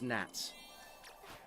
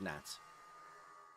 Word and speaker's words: gnats: uh we call those gnats. G N A T. The G is silent.